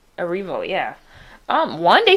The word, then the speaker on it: Erivo: Erivo? Erivo, yeah.